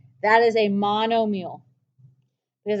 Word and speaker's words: monomial: kind is called a monomial mono mile meal m-i-a-l let's pronounce meal like the like anything you eat but it's not spelled that way mono like mono e